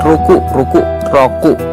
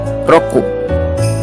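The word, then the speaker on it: ろく: Jadi kayak ada penekanan di belakangnya. Ku. Kayak roku ya. Roku. Bukan, kalau kita kan dalam aksen bahasa Indonesia kan roku gitu kan. Kalau aksen bahasa Jepangnya itu roku.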